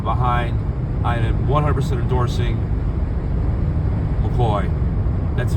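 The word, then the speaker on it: McCaughey: Her name is is spelled uh C A U A G H T Y or something like that. It's not McCoy like you'd expected. So, don't get confused by that.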